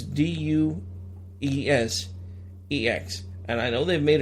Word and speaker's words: Deus Ex: But it's spelled Deus Ex, so it's Duesex.